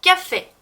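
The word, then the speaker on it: café: 그리고 까페, 까페 할 때도 마지막 이에 이 발음 기호가 있어서 또 에 발음이 나죠.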